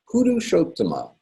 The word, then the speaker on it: Purushottama: The two T's together in Purushottama, we pronounce both T's as well. Hit the brakes on the first T and then keep going on the second T.